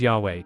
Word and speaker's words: Yahweh: Many modern scholars deduce that YHWH, which I shall dare to pronounce, as Yahweh, appropriated Asherah's powers and functions.